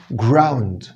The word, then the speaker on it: ground: قلتلك الحرف الساكن لما يجي بعده R أضم شفايف وأنا بقوله، فأقول ground. ground.